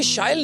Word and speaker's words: Shail: So as you just said, it rhymes with style।